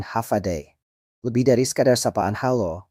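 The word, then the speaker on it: Håfa Adai: Hofa Adai, diucapkan Hafadai.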